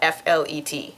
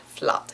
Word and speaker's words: flat: And they wrote out F-L-E-T. It sounds like flet in Dutch. It's not flat, as you would expect.